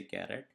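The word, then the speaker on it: charAt: at the particular index, so you can say caret. Okay, just write caret, but you have to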